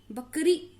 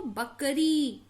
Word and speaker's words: बकरी: थाली, सीटी, चाबी, घड़ी, माली, बकरी, बकरी ऐसे नहीं पढ़ते इसको, बकरी, तो बड़ी मात्रा।